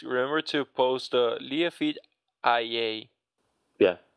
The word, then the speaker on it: IA: So, future Luis, remember to post the Liafeed IA. Yeah, it's pronounced Ia for some reason.